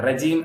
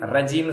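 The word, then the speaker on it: رجيم: சொல்லணும் அப்ப ர ர ரஜீம் ரஜீம்னு சொல்லக்கூடாது ரஜீம் இல்ல ராஜீம் ராஜீம் ரா என்பதை என்ன சொல்றோம் நம்ம ரேஸ் பண்ணி நம்ம சொல்றோம் தஹீம் அல்லது தடிப்பு தன்மையோட சொல்லணும் சரிங்களா அப்போ இதுல வந்து எக்ஸாஜரேட்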